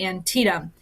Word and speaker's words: Antietam: let's talk about the Battle of Antietam that's how you say it Antietam all right happened in